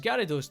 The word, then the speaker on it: Gyarados: Bizarrely pronounced as Gyarados despite his name having a Y before the A, Gyarados was probably the coolest thing you'd ever seen in your life at 6 years old.